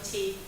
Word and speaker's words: Qi: I know some people may pronounce Key. That's also fine, but QI is my surname, so it's Key.